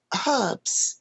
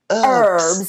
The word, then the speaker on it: herbs: And then herbs as well, or herbs, as they we say. Yeah, we don't Yes. pronounce the herbs.